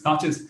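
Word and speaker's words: Tacky's: learned a new thing ah so the proper pronunciation is touches so let's call it the touches revolve the study of an atlantic slave war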